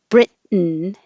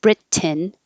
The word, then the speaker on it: Britain: Britain is a syllabic N. The N becomes its own syllable. And so instead of Britain, when you go up for the T, Brit, hold it there, and then go N.